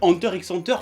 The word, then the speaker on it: Hunter x Hunter: Hein, si vous voulez pas mettre de X, fallait pas mettre de X si c'était pas pour le prononcer. Donc moi je dis Hunter x Hunter, point barre.